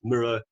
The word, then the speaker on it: MiRO: who don't know uh the name mirror comes from our founders favorite artist john miro so it's for that reason that if you want to know the correct pronunciation it's mirror although if you call